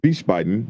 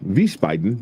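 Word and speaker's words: Wiesbaden: Uh reservations.vicebaden, vicebaden, vicebaden, vicebanden. However you say it, the W is pronounced with a V.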